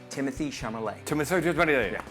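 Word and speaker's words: Timothée Chalamet: It's pronounced Timothy Chalamet.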